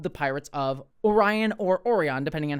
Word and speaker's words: Orion: just some people just they didn't have a pronunciation guide and so they just called them orans and then they just went with that for the rest of the episode um instead of calling them Orion so the the fact